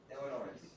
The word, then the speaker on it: Illinois: Illinois. Anybody from Illinois? You hear me? I'm accentuating the S to show that I know that we don't pronounce that, but I always did when I was younger, right?